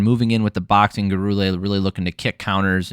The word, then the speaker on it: Gurule: Gurule. That's how you pronounce that. I'm sticking to it.